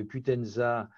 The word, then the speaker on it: Qutenza: Et du coup, y a-t-il un nombre maximum d'applications du patch, j'ai peut-être mal le prononcer, Qutenza?